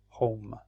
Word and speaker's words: home: home your home so here we don't pronounce the e at the end but the e makes the o say oh so the sound is home so that's a with